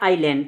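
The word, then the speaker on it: island: ये एस लिखा है यह एस क्या होता है साइलेंट होता है इसको पढ़ने हैं आयरलैंड आई ल ए एन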